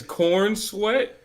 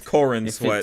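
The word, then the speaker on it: Corenswet: like these sty His name is Cor Sweat. Corin Corin sweat a little differently than what you're thinking but that that is how you say it.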